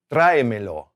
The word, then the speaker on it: tráemelo: Well, the stress is on the A, trae, trae. When we add other words to it, me and lo, well, the rules change, right? When we have 3 syllables, we typically stress the middle syllable, all right?